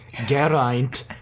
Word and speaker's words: Geraint: Eve Miles or just Gwen Cooper's weird pronunciation, Geraint Cooper. You see, wow, I'm amazed. I didn't think that I was going to actually roll that R.